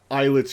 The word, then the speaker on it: islets: white flowers in whites he literally just pronounced eyelets correctly uh in his dialogue narrator and now you're pronouncing it incorrectly again the coast too